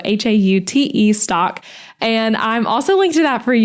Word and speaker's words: Haute Stock: And that is spelled Haute stock. So spelled like haute couture, but pronounced hot. So Haute stock.